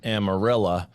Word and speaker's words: Amarillo: gorillas gorillas random apparently in this part of Texas they pronounce the name of their town amarilla so it comes out amarilla gorillas all right Evan